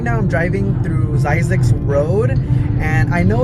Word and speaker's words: Zzyzx: the heck is that and how do you pronounce that word so it's size X so I'm driving this road it's super long